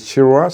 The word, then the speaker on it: Chirwa: So, you can uh My first name is, which is spelled. My last name is Chirua.